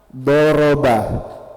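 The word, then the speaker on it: ضَرَبَ: Doroba.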